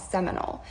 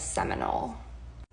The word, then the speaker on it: Seminole: In their dialect, it became Similoni, and Americans learned the term and pronounced it as Seminole.